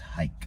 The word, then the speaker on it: Reich: the nazis nazi reichs third reich pronounced hike third hike third hike original nazi